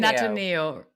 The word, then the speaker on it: Natio: But so, we pronounce it Natio.